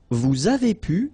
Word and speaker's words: vous avez pu: Vous avez pu. Same thing here. Little liaison between the two.